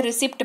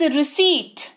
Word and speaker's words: receipt: ठीक है, फिर है RECEIPT, इसको रिसिप्ट नहीं पढ़े। मैंने बहुत लोगों को देखा है, मतलब पढ़े लिखे लोगों को देखा है रिसिप्ट पढ़ते हुए। इट्स नॉट रिसिप्ट, इट्स रिसीट। P silent है क्योंकि पी के बाद टी लगा हुआ है, जिसकी वजह से पी साइलेंट है। ये रिसीट बनता है, ना कि रिसिप्ट। ठीक है, याद रहेगी बात, इट इज रिसीट।